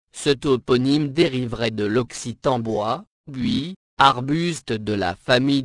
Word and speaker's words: bois: toponyme dériverait de l'occitan bois buis Arbus de la famille des buxacés ou du provinçal Médiéval bois prononcé BO les baronniies sont une